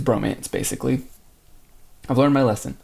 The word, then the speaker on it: VROMANCE: the romanization is and it's not V romance it's Bromance basically I've learned my